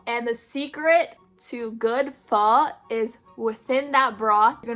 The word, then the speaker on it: pho: Yes, that's the proper way of saying it. Say it like you're asking a question. Pho.